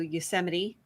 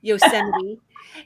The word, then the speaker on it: Yosemite: national park so we're going to go to yosemite and and i did pronounce that correctly yes yosemite and we're also going to go to kings